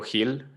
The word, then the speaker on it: Gil: that way you know is pronounced like hill like a hill like you you walk up a hill but a lot of people don't get that and they call me gill so i just like